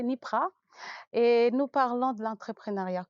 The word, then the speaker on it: NYPRA: Nous avons reçu pour vous monsieur Antien Kouou qui est le CEO de la société NIPRA, enfin je l'ai bien prononcé NIPRA.